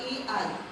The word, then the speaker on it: Ai: No hindi ako marunong magmasayan at sabi ko anong pronunciation nito? I ba ay gan yun pala nung may nagturo ' ba ai pala ang pronunciation niya tagal AI his people, his city and his land.